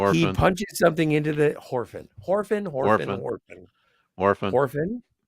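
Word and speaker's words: Whorfin: Horfin, he Worfin. punches something into the computer. Shut up, I've been drinking. He Orphan. punches something into the Horfin. Orphan. It's Warfin.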